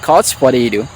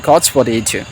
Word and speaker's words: couch potato: আই এম কচ পটেটো যদি আপনি আমেরিকান স্টাইল উচ্চারণ করেন তাহলে হবে কচ পটেডো পটেডো ওকে আই এম কচ পটেডো আর নরমালি উচ্চারণ করলে আই এম কচ পটেটো সো কচ পটেটো হচ্ছে